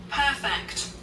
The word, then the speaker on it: perfect: perfect, 퍼펙트. 퍼를 크게 하세요. 왜냐면 퍼가 through 여기서 저까지라는 뜻이에요. 통과하여 perfect, 퍼펙트.